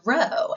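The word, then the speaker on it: ῥῶ: Moving along, we have the letter rho, and this looks like a little P, but it is our R sound, so rhyme.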